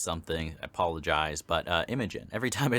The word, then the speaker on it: Imogen: I apologize but uh Imogen every time I say her name now I'm like second guessing myself is that the correct way Imogen I know it's not emojin like I was saying